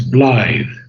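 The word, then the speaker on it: blithe: So we have two mistakes in pronunciation. The first one is Bllythe.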